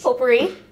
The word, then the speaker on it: potpourri: Potpourri. Oh, wait, is that how you spell potpourri? It? Potpourri. That is how you spell potpourri. Baked. Wait, what is it? P-O-T-P... The T is silent.